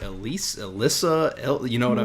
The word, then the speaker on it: Elysse: siebel speaks interviewing uh also how do you pronounce your name elise elise okay that's what i've been saying in my